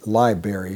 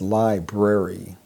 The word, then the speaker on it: library: They drop that first R. So instead of saying library, they say library.